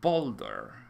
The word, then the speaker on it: Baldur: is christopher's who wrote baldur or boulder as it is pronounced so congratulations christopher's you